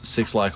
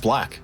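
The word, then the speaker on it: 6LACK: I've heard of JID and I've heard of Six Lack or Black. I don't know how to fucking say that. I don't know. I think it's I'm gonna click on it. And, pronounced Black.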